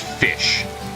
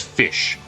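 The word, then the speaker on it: Ghoti: uh spelled g-h-o-t-i but it is phonetically pronounced fish it is spelled goatee but it is pronounced as fish I gotta I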